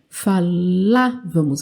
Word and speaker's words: falávamos: Falávamos, aqui tem até o acento, né?